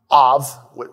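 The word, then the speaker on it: אב: the father of abner of we spell it a b but of is father that's why abraham is avraham father of many nations nur is the father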